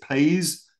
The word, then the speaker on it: PAIS: So we pronounce it PAIS. It might be pronounced a different way, but that's how we pronounce it.